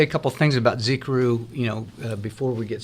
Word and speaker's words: Xicaru: a couple things about Z Krew you know before we get started the name is very difficult to pronounce it's a Zapotec name which is the indigenous people of Oaxaca and Mexico where we